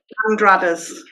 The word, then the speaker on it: Andrade: Tell me how do you pronounce your surname? Andrades. Andradas.